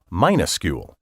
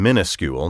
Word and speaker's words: minuscule: like minus plus c-u-l-e given that it would perhaps be logical to pronounce the word minuscule except that logic and usage don't always concur and people have never seen fit to say it that way the pronunciation minuscule now common among educated speakers probably came about as a result of the persistent misspelling of the word as though it began with the prefix mini m-i-n-i-s-c-u-l-e the misspelling is now so